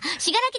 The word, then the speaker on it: 信楽: ました信楽たぬきえなんて読むしししきたぬきあこれしらきって読むんだねはしがらきたぬきさんからいただき